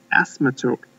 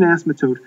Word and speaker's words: asymptote: Algebra 2 right now now I say this word wrong but uh the graph is reaching an asthma token asthma S I believe that's the right way to say it anyhow it reaches an asymptote uh an asymptote basically